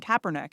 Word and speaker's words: Kaepernick: You looked at things like Nike, giving an endorsement deal to Colin Kaepernick. Am I pronouncing that correctly?